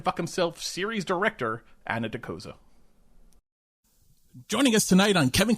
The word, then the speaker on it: Dokoza: I should actually clarify, is Dokoza the correct pronunciation of your last name?